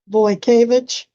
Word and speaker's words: Vojkovic: It's supposed to be white cabbage, but we were teased about sounding like a vegetable, so I pronounced it more how it's spelled, Wojciech, so you were very close. Vojkovic.